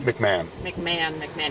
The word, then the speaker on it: McMahon: McMohan? McMahon. Even though it's spelled Yeah, it's McMahon.